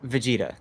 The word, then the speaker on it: Vegeta: just take a solid hit there vegeta that's pronounced vegeta okay i know it's an anime thing but